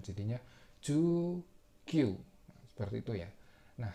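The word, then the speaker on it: 十九: Jadinya ju kyu.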